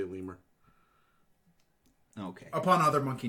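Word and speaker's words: lemure: in there are lures I've been calling them little yours I found out earlier today it's actually pronounced lemur your leme yours theirs leave years yep lee muir that just sounds like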